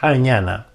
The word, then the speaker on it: jñana: y después ñ a n a y se pronuncia jñana Este es un mudra que nos alivia todos